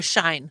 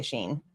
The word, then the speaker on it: Shein: Is it Sheen or Shine? Mhm. Or Shein? I hear everyone say Sheen. So Okay. That's what I thought, but I've never made an order from Sheen yet.